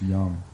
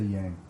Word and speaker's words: Yang: yo it's great it's it's pronounced young and I was like